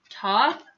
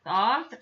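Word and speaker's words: Thoth: let's talk about this ascended master pronounced top or thought some people say it um but let's take a look at who he is because he's from Egypt by the way Toph usually pronounced T hot tip T Haute it is the Egyptian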